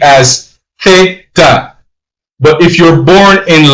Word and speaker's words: theta: Alpha, beta, zeta, theta. That's pronounced T-H-E-T-A, theta. So if you're born and raised in Spain, you're going to pronounce the letter Z as theta.